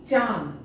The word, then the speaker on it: चांद: दोनों से ध्वनि निकलेगा जैसे चांद अब चांद का उच्चारण करकर देखिए च मुह से ध्वनि निकला फिर आन जो है ना वो नाक से निकलेगा चांद च में अंग लग गया चा द चांद दात